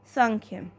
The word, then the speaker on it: सांख्य: चीजों को मानते थे संख्य संख्य इसकी स्पेलिंग तो है यह लेकिन जो इसकी प्रोनंसिएशन है व है सांख्य सांख्य क्या मैंने आपको बताया